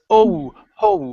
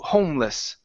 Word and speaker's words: homeless: Instead of homo homeless. Homeless. Okay, one more time. Get that O sound. You're saying h instead of um it's home. Homeless. There you go.